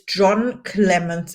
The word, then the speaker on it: Jon Clemence: My name is Caroline, and my today's guest is Jon Clemence. And I hope I pronounced your name right.